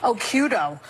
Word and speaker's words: Occhiuto: I had mine because my original Italian-American name was too hard to pronounce. Occhiuto.